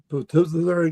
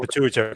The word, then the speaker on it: pituitary: I uh I basically had a giant um u how you pronounce that platisary gland or something like that? I can't pronounce. Oh, pituitary gland.